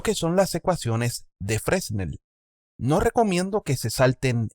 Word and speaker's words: Fresnel: Como en ellos vemos ecuaciones o aproximaciones basadas en las ecuaciones de Fresnel, pero lo voy a pronunciar como se lee en español, Fresnel, para tratar las reflexiones y la transmisión de la luz a través de medios con transparencia.